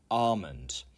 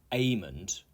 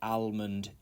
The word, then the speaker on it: almond: 24 is Armond Armond not amond and it's actually not really almond either it should be Armond it's a type of nut one of my favorites and an example would be I added almond milk to my coffee some people say almond in American English that's why that says correct there 25 is Cavalry Cavalry